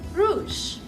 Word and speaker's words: rouge: Red means rouge.